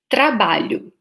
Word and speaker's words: trabalho: So, for example, I'll show you the word trabalho. So maybe you find tricky this first sound, tra, or maybe you find hard the last sound, lho, and you can work on these sounds, tra, tra, ba, lho.